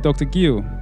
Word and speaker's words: Guío: Guio. That's the correct pronunciation, right?